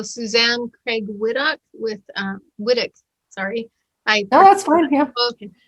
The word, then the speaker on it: Whytock: how to pronounce it here everybody's like why talk white yeah i know right it's a really strange looking name for the way that it's pronounced but um well i